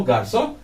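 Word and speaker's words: garçon: T silent रहेगा, गार्सों में भी एन साइलेंट ही है, गार्सों। ये ना का नजल साउंड आता है, नाक का साउंड आता है, गार्सों, ON ओ।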